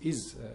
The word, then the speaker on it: is: the top twelve so is and was are words that have an s at the end but they're pronounced z so if you see